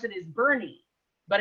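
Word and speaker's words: Boerne: dealership there and it's it's actually how you pronounce it is bernie but it's b-o-e-r-n-e and you're like how do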